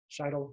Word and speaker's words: Scheidel: I got The Great Leveler by Walter Scheidel. That's how you say his name.